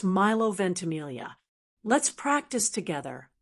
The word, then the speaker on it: Milo Ventimiglia: Kind of a soft lea sound. So al together it's milovententamelia. Let's practice together. Miloentamelia.